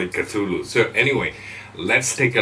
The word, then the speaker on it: Cthulu: by cthulu mods that's the name of it cthulu and that's how we pronounce it the name cthulu is actually a